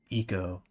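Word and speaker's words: Ico: This is giving me very heavy, like, eco vibes. Eco is how you're supposed to pronounce it.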